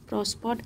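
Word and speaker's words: prospered: यहाँ पर भी आर आपका साइलेंट होगा, यहाँ पे इसे पढ़ेंगे प्रॉस्पर्ड एंड अर्नड।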